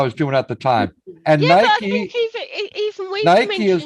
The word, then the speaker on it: Nike: the United States so how do you go about pronouncing the name of this brand simply Nai tea Nike see Nike Nike okay I could swear uh it was Nikki Mikey Nikki no it's Nike oh it's like is